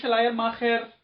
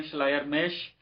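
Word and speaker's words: Schleiermacher: بھی عرض کروں گا۔ یہ شلائر ماخر یا شلائر، ہم اگر درست تلفظ کریں شلائر میش، یہ آلمانی ہے، جرمنی کا متفکر ہے،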